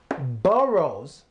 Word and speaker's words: borough: those are the five boroughs of New York City there's all the five boroughs of New York City and there it makes the sound oh those are the five